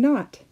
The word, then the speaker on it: knot: Sometimes the K is silent when followed by the letter N. KN sounds like na. The silent K is in the words new, night, and not.